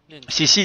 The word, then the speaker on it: Xixi: Да, на китайском CC читается. То есть, если конкретно по китайскому, но мы-то русскоязычные, и мы будем говорить, как мы русскоязычные будем читать. Вот. А так, да, CC. То есть, если китайцы, они произносят как CC.